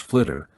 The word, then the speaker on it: FLTR: to bring hundreds of liquid fluoride thorium reactors fltr pronounced flitter online throughout Europe ultimately